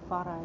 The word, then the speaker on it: Farah: But Farah is how you pronounce it.